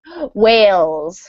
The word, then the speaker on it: whales: Whales? Whales. Whales. Okay. Yep. So the H is silent.